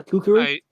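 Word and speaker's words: kukri: it this way, but I do have a kukuri. Is that how you pronounce it? Yeah, kukuri.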